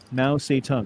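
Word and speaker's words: Mao Zedong: Hitler, Castro, Stalin, Mao Satung. Mao Satong, that's how you say his name.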